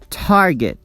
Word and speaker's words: target: Target, contain. Target is a two-syllable word, but we only stress the first syllable, target.